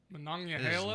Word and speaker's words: Monongahela: I don't know, I always go Monongahela up. that sounds like it's in Hawaii. Monongahela?